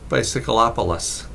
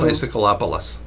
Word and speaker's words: Bicycleopolis: youtube channel is called bicycleopolis it's spelled like bicycle except in instead of ending with an e bicycle with an e it ends with opolis as in metropolitan area opolis so bicycleopolis yeah o-p-o-l-i-s and it's a